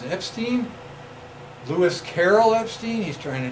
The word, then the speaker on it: Epstein: This guy whose name rhymes with Einstein is Epstein, Lewis Carroll Epstein.